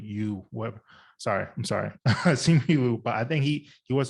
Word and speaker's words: Simu Liu: Sim Yu Liu, is that how you pronounce his name? Was it the video said it's Simu Liu? Yeah, Simu Yu. What? Sorry, I'm sorry, Simu Liu.